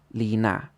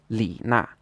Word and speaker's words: Li Na: Another example would be the tennis player Li Na. So in Chinese, this is pronounced with a third tone, then a fourth tone, Li Na. So this would be the correct way to say it.